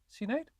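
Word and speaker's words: Sinéad: perhaps yep uh Sinead yeah how do you pronounce it Sinead O'Connor yeah yeah see Nate cool she needs let's go foreign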